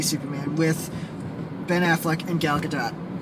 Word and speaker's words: Gal Gadot: affleck and gal gadot we finally can say her name we've figured out our names thank you saturday night live we now know that it's pretty that you pronounce the t the e you know e yes now we also